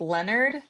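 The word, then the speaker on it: Lenert: So basically like Leonard. Think Leonard and Connie.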